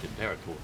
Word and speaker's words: Imperator: it was the impera well yes but we just pronounced it imperator m there is quite